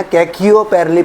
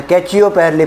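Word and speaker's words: Khecheopalri: गया है है ना इसको प्रोनाउंस कर लेना कयो पैली पढ़ लो या कैच पली पढ़ लो लेक है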